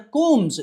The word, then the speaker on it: comb: Mirrors and కూమ్స్, COMB కూమ్స్, COMB కూమ్ ఏంటండి? whenever we find a word ending with MB, B must be a silent letter.